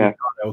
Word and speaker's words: Kato: I try to pronounce stuff correctly, and I know it's a Japanese name, so it has to be Kato because I don't think Japanese language has that long A sound that we have.